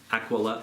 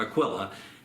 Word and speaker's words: Aquila: The church that meets in the home of Prisca and Aquila, or Aquila, it's tomato, as far as that guy's name is pronounced.